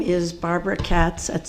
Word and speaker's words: Katz: My name is Barbara Katz. That's spelled K A T as in Tom.